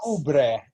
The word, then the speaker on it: cubre: her other eyebrow, so we just say it's Cubre is cover.